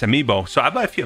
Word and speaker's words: amiibo: are really nice let me look how to pronounce this Amy Amo amiibo amiibo okay it's amiibo so I about a few amiibo as well